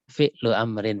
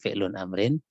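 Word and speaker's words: فعلُ أمرٍ: Fi'lu amrin bukan fi'lun amrin. Ini juga fi'lu amrin ya, bukan fi'lun amrin ya.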